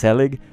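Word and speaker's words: gezellig: but I'll type it in the chat because helig is spelled g-e-z-e-l-l-i-g people who watch Ted lasso no I got it from that show the Dutch guy that Rebecca met was uh saying the word and his helig is uh basically um it's kind of like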